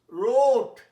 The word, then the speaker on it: wrought: রোট, past tense, রাইটের, WRIT, রাইট, তার past tense হচ্ছে রোট। আচ্ছা, এইটা দেখো, WROUGHT। ডব্লিউটা না থাকলে কি উচ্চারণ হচ্ছে? রোট। এটার উচ্চারণ রট।